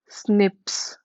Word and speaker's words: SNP: single nucleotide for polymorphism these are pronounced as snips so they found 1.4